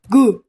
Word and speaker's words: Guh: Guh. You pronounce it like Guh. Like you're like, oh.